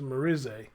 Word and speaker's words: Merisier: Merisier, I think I said it right because somebody came in the comment section and said she Haitian, so it's pronounced Merisier, had been hired by Gerard to help him around the house.